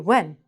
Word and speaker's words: when: Take out the h. Just say the w. When.